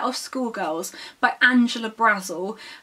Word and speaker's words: Brazil: school girls by angela brazel her surname is spelt brazil as in the country but she pronounced it brazel because i think she